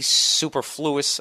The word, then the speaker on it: superfluous: say that Nia superfluous there's no eye in that he wrote super and then f u f l u o u s super huh oh good